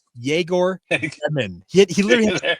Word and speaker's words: Yegor: So in another podcast, I call him Igor Demon, and I'm like, okay, now it's Jaeger Demon.